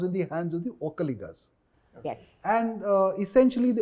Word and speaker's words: Vokkaliga: And you call them Okkaligas, not Vokkaligas like we say. Vokkaliga. Vo. Okay. If you typically want to spell it in the Kannada, using the Kannada phonetic intonation and stuff like that, it's V-O, not O. It doesn't start with O, all right?